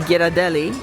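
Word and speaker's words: Ghirardelli: And then on the far side of between Giraadelli, that is how it's pronounced, by the way. Giraadeli, you can go by Crystal Arts, etc.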